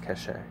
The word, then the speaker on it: Kaŝe: tree of kazakh cache it's pronounced cache um yeah so very